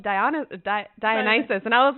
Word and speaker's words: Dionysus: So when I was reading the books, I thought it was Dionysus. Oh, wow. And so I'd pronounce it that way in my head. And then BTS came out with a song, but in Korea they pronounce it Dionysus. So then I was like, oh, it's Dionysus.